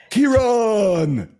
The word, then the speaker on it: Kearon: If you have trouble remembering how to pronounce his name, just think back to Star Trek, the original series, William Shatner, right? I am Kearon.